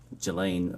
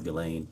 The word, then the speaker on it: Ghislaine: Um As best as we know, it's been publicly reported that in 2024 uh Ghislaine Maxwell, or Ghislaine, I think it's how it's pronounced, arranged and wired $1